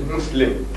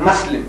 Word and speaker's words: Muslim: I suppose you see the Westerner, the real pronunciation is Muslim. But sometimes when you spell it M-U, the Englishman has a tendency of Muslim, you know, like Muslim.